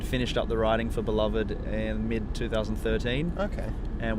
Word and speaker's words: Beloved: Beloved, we pronounce it.